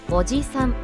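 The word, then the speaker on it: おじさん: 오지산, 아저씨. 이 단어는 오지산이라고 짧게 발음합니다. 일반적인 아저씨를 지칭할 때 사용합니다. 지는 한 박자로 짧게 발음됩니다.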